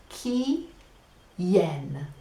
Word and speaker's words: quién: add who which is key yen is spelled qu I n so in Mahina the key in Mahina a bunch of yen who has the key who has the yen yen and maybe that